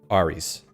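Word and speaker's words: Ares: Aries actually uh uh the Greeks would say Aris ARS yeah maybe maybe more like RS because the uh ah Alpha is Alpha ah so it's not it's not an air it's an R kind of sound all right I think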